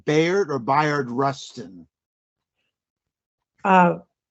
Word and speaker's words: Bayard: You have to tell me how to pronounce his name, Bayard or Bayard Rustin. uh, Byron, I think Byron Yes.